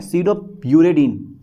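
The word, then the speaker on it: pseudouridine: एस ई यू डी ओ P silent रहता है इसमें। सडो यूरेडीन यूरडीन ठीक है सडो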